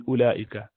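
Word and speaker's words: أولئك: You do not pronounce this wow in ulaika.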